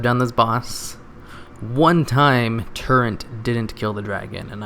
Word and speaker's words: Turret: I think that's how you say it, right? Turret, not torrent like I usually say.